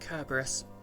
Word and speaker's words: Cerberus: fit the bill slap of pedantry is technically pronounced Cerberus it must be pretty complicated if even you